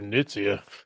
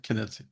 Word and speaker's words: Knizia: Nitzia. Oh I man. bet he doesn't even have a The doctorate. The K is pronounced, by the way. Knizia.